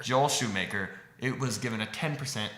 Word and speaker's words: Schumacher: Joel Schumacher. It looks like Shoemaker. Joel Schumacher. Joel Schumacher.